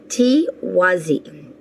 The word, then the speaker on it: Tiwaz: All right, Scorpio, let's get your ruin meaning now for the month of May, and it is pronounced Tiwazi, and it means divinity or sun.